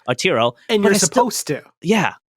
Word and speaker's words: Arturo: It's Ataro or oh my god, I'm saying his name wrong. Arturo.